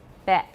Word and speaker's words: bet: So what I'm saying is if you're having trouble with these two, open your mouth wide for don't move for bet.